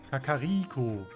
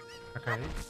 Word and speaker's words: Kakariko: Betonung: Kakariko. Kakariko. Kakariko.